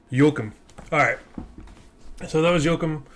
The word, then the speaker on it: Joakim: Joakim.